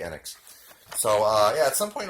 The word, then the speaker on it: Enix: I think it is unit annex whatever you pound you pronounce it I think it's actually annex so yeah at some